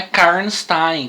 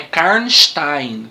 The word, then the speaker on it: Karnstein: isso mesmo é para vocês aí pessoal a pronúncia não é karen está em como a gente pensar viu mesmo eu saiba é carnes tem faz um x o essa aí aí vocês